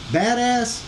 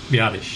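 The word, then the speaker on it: Biadasz: Badass? Is that how you say his last name? Okay. Biadish, sorry.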